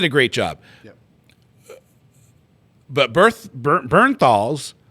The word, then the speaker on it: Bernthal: But Bernthal's. You always say it wrong. Berthenol.